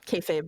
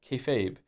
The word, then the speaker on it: kayfabe: Kefabe is pig Latin for be fake refers to essentially treating a bit you're doing that everyone understands as fake as real to facilitate the bit and is pronounced kayfabe this level of new word